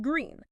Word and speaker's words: GR33N: And this specific broadcast features an artificial super intelligence or ASI named GR33N that's spelled GR33N but pronounced green.